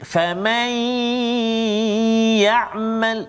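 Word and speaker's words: فَمَن يَعْمَل: Kalau ya, nun mati bertemu dengan ya, may famay ya'mal, maksudnya dia tak terus pergi pada ya, kan? Dia ada dengung dia. Famay ya'mal min wal, itu cara bacaan dia. Dengung dua harakat.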